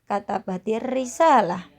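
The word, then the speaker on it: كتبت الرسالة: Contoh, katabat ar-risalah, cara bacanya katabatir risalah.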